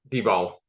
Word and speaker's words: Dibble: And I always say, hey, Dibble, are your sellers? unmute yourself. Did I pronounce your last name properly? Good enough. How do you say it? D-ball. D-ball.